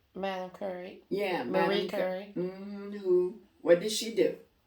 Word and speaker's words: Curie: Because, and he was saying women in the world And you were saying Madame Curry. Am I saying it right? Madame Curry. Yeah, Marie Curie.